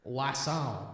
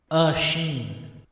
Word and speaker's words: Oisin: Quick guide on how to pronounce Oisin, not like Wasson. Oisin Clancy. Say it like as in spaghetti-o. Sheen, like Charlie Sheen from that one show. So it's Sheen Clancy.